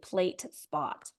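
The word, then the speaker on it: PL8SPOT: Yeah, the app is like blue and white and gray, and it's spelled PL the number 8 and then SPOT.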